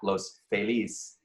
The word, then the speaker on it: Los Feliz: So I now pronounce that Los Feliz, which is the proper way to pronounce it, because I would pronounce it wrong.